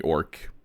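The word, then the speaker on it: Ark: what you're talking about it's spelled weirdly though it's it's it's um it's a r k okay orc orc or orc orc yeah okay so don't like it's not o RC like we normally would spell how like my people is spelled but like orc it's written here and then you see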